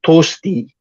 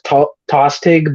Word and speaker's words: Tostig: one of Godwin's Sons named tosti you might know him as tostig but that's not how you pronounce his name is uh because Old English is funky that way um yeah and uh